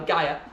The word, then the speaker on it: Gaia: So, cover pronounced Gaia. Gaia. Thank you. We have good pagans here. Thank you. Never mind. Okay. So, Saturn, child of Gaya and uh Gaia um and Uranus.